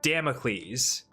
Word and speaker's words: Damocles: Damocles. That's how it's pronounced.